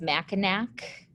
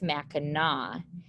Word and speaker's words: Mackinac: island and mackinac island i know it looks like it says mackinac but the correct way to pronounce that is mackinaw and we're going to